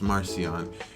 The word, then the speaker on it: Marcion: an 144 ad I think his name is pronounced Marcion completely denounced the Jewish Bible took ten Scrolls